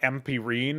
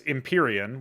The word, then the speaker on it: Imperian: it as well and this one looks like you would pronounce it like empirine or empirian or something it's imperian which kind of throws me off as well personally but